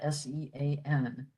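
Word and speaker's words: Seán: we would spell that S-E-A-N. So the E after the S produces the sh sound, and then the A fada, Sean.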